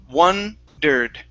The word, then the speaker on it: wondered: uh the Ed ending that e is is going to be silent so it's wondered wondered wondered okay very good uh